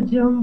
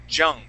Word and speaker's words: young: young good good yeah there you would use the Spanish Y and you said Jung okay just remember that Y is a y sound okay now uh word